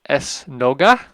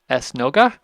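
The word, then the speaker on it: esnoga: curo now the Portuguese word for synagogue is es nooga es nooga but in the local pronunciation of Papo the drops out and so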